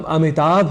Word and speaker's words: अमिताभ: वश या अनवत वश हम अमिताभ इस शब्द में भ की जगह ब यह उच्चारण कर जाया करते हैं और उच्चारण की